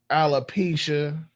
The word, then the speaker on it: alopecia: Now I know it's all different types of diseases and and alopecia.